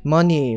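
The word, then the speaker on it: MONI: were going with um you could pronounce it money but that's not how you spell money so you say manae monsta infinite token manai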